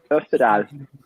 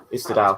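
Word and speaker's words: Österdahl: Is that how you say his name? It would make sense for him to be there. Österdal. Osterdahl, thank you. There's an umlaut in there, and I can't pronounce my umlauts very well.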